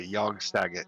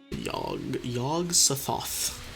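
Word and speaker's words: Yog-Sothoth: Yog Sothoth. Just feels so unnatural to say two th sounds so close to each other.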